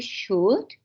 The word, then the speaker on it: should: And everybody, the students who are here in class, should is pronounced without L. Entonces, cuando vamos a pronunciar este should, la L está en la escritura, pero no se pronuncia.